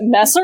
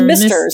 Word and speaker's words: Messrs: What, Messers? No, wait. It just is masters. It's just misters. It's just like the plural misters.